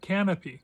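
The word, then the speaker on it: Kanopy: By the way, as long as I'm promoting Tuby, I also want to promote uh Canopy. Canopy spelled with the K is a a service you can have free access to from your library.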